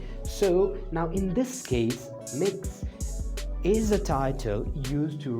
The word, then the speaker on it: Mx: for the first time mx is pronounced as mix all right and it's